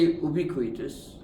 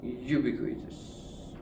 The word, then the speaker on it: ubiquitous: to check the pronunciation I say ubitus but you may say ubiquitous I think it is ubiquitous right no it